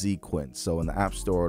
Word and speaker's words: Xequence: It's spelled Xequence, but it's pronounced Xequence.